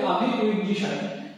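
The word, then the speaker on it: Avi Wigderson: ইসরায়েলের গণিতজ্ঞ কি আভি, দেখো বানানটা ইংরেজি বাংলা বানানটা কিন্তু তোমরা দেখবে, ব্যাপার হচ্ছে আভি উইগডিশন, তাই তো দেখো বা এখানে উইগডিশনটাই কিন্তু তোমাদের উচ্চারণটা হবে। ঠিক আছে? আভি উইগডিশন, তাই তো এটা তোমরা উচ্চারণ করবে আভি উইগডিশন।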